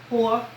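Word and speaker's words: Heaux: It's spelled Nosy Whore, but it's spelled like Horcrux from the J.K. Rowling Harry Potter books, H-E-A-U-X, whore.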